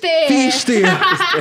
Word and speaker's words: Pfister: Fister. Desculpa. Fister! A gente é assim, não, por Breno favor. Fister. Fale seu nome corretamente. Meu sobrenome é Fister, o P é Pronto.